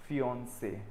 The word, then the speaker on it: fiancé: a male person, और इसका pronunciation है fiancé, fiancé, fiancé, that's what you say, fiancé, and so you